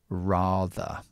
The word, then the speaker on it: rather: And the word rather which is similar to father but with an R.